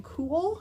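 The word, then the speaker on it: Kühl: is really nice this is by the brain cool k-u-h-l is how it's spelled in a large um to save time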